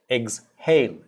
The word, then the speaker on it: exhale: is eggs hail oh the h is pronounced eggs hail hail exhale it's not exhale it's